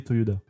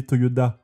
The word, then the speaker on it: Toyoda: avez remarqué peut-être que je disais Toyoda et pas Toyota c'est norm mal la famille s'appelle bien Toyoda mais Toyota étant plus facile à prononcer bien ils ont tout simplement changé leur nom de famille pour des raisons marketing en tout cas les